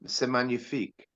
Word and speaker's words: C'est magnifique: He pronounces it C'est Magnifique, not C'est Magnifique. Yeah. It misses the G out, and then I did a little, comparison of other people singing it, and some other people sing it without the C'est Magnifique, and other people sing it C'est Magnifique, pronouncing the G as hard, and he drops it.